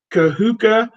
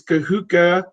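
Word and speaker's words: Kahuku: He's from, I got to pronounce this right, Kahuka. I think it's Kahuka, Hawaii is his hometown.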